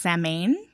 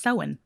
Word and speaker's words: Samhain: sowen and it looks like it would be pronounced same but it's actually pronounced so in it's i've heard people pronounce samhain uh-huh yeah